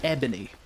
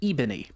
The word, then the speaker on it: ebony: And as we know, it is called ebony. However, 12-year-old me had never seen that word before. So he, with his Scottish accent, pronounced it ebony.